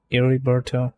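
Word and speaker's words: Heriberto: would be a Roberto because in Spanish H's are not pronounced ever so oh eriberto yeah yeah right revert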